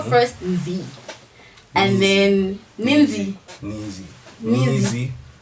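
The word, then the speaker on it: Nzy: Nizi. It was N-Z-Y. Yeah, that's how it was spelled. Nizi. Yeah. But there's no I. Yeah, but that was the pronunciation.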